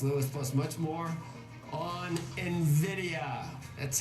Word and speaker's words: Nvidia: plus much more on Nvidia that's how it's pronounced write it down like it's got an e in Nvidia if you hear an analyst call Nidia don't listen to him